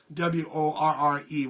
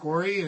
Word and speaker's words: Worre: I don't know why I can't pronounce that name. W-O-R-R-E, Worre.